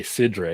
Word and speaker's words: cidre: have that it says I should say cidre because c i d r e the way they spell it but yeah I that